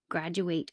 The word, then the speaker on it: graduate: this when did the what would you say graduate graduate when did the graduate graduate or when